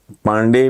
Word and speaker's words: पांडे: उन्होंने तोड़ के अपने नाम के जो इंग्लिश में जो हिज्जे हैं, DHI, थोड़ा डैश है, REND, धीरेन्द्र, फिर एक डैश RA, धीरेन्द्र पांडे भी उन्होंने ना PAA, हल्की डैश है, नून NDA।